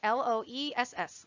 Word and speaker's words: Loess: Also in this area, we find the Loess Plateau. So that's how you pronounce that word, L-O-E-S-S, Loess Plateau.